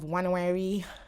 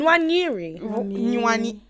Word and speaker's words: Nwaneri: You have Wanawari. Why are you laughing? I can't pronounce his name. Nwaneri.